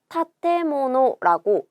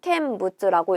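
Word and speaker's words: 建物: 마찬가지로 내가 이 세울 건자 캔이라고 읽는 걸 안다 라고 해서 얘를 캔부츠라고 읽지는 않는다는 거죠.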